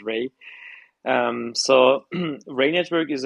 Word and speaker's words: Rei: Network actually uh the the true translation of our project is Ray you can pronounce it as Ray um so rain network